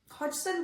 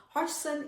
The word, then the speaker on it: Hodgson: Hop, sorry, I'm so excited about Hodson. I keep mispronouncing his name. Hodgson is an important precursor